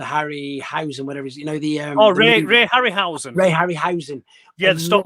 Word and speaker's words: Harryhausen: But I loved like the Harry, how do you pronounce his surname? The Harryhausen, whatever it is, the Ray Harryhausen.